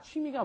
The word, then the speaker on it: 취미: 취미 is a little bit hard because foreigners don't pronounce it quite as they should. They get Double lazy. vowel. Exactly. It's a double vowel.